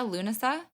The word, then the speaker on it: Lughnasadh: And I'm saying it correctly, yeah? Loon-uh-sah? Yep, that's right.